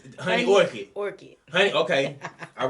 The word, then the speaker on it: Honey Orchid: video is sponsored by the honey orchard did i say it right i didn't no it's honey orchid orchid honey okay all right as as usual